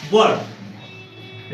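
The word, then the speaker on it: were: इसका right pronunciation क्या है, वर्ड। राइट प्रोनाउंसिएशन क्या है इसका, वर्ड। इसको क्या पढ़ेंगे, बर्ड पढ़ेंगे, नॉट बेयर पढ़ेंगे।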